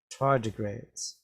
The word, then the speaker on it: tardigrades: we read this word we can separate the words into syllables so we get tar d grades tardigrades what are tardigrades well